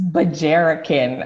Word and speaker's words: Bajarican: Now tell me if I'm pronouncing this correctly, Bajarican? Is that it? It's Bajarican. Okay. Oh my goodness. Okay. Thank you for that. I'm glad I asked. Bajarican. That sounds better. Yes. So Bajarican is a mixture of Bahamian, Nigerian, and American. Yes, I'm pronouncing everything correctly.